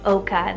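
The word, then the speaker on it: Oaka: Then we have Oka, spelled O-A-K-A, Oka.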